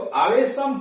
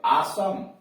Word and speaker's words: awesome: आसम, AWESOME, गलती से हम लोग इसको आवेशम पढ़ते हैं, लेकिन यह आसम, आसम का मतलब बहुत बढ़िया, आसम बहुत बढ़िया।